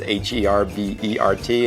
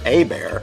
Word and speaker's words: Herbert: And if someone's last name is Herbert, it's Abear, not Herbert.